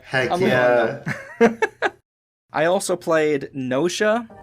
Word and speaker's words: Gnosia: I also played Nosia, and that's spelled with Gnosia. Nosia.